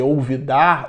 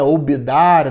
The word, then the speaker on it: olvidar: Então a palavra esquecer, por exemplo, né, que a gente chama de olvidar, o espanhol que pronuncia o V pelo B, né, olvidar, né, não ouvides de tuas responsabilidades, quer dizer, não esqueça de tuas responsabilidades.